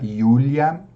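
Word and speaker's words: Julia: é o sujeito e Júlia naquele caso a pronúncia yulia no J sempre com som de I e II William é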